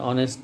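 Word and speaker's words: honest: তো এটা হচ্ছে অনেস্ট, আমরা বলি যে অ্যান অনেস্ট ম্যান বলি আমরা, কিন্তু এ অনেস্ট ম্যান বলি না, উচ্চারণটা হনেস্ট হয় না, অনেস্ট হয়।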